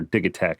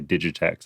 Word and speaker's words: Digitakt: about the electron digitech or dig attack i guess is how supposed to be pronounced but i would say digitech some american and it's digital so did tech i pre-ordered this and